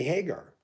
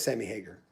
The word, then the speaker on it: Hagar: lead and stuff sammy hagar yeah it is sammy hager but a lot of people say hagar i said and sammy